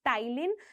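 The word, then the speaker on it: ptyalin: जानते हैं, that is टाइलिन। ठीक है, पी इसमें साइलेंट रहेगा, इसको कहते हैं हम टाइलिन, जो कि सलाइवरी अमाइलेज का ही दूसरा नाम है।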